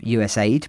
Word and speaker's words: USAID: Now, Musk's targeting of US aid, pronounced rather confusingly as USAID by those in the humanitarian sector, is curious given that it comprises less than 1% of the total federal budget.